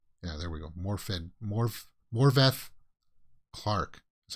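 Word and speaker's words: Morfydd: Morveth Clark is how you pronounce it. The D's are apparently pronounced with like a TH.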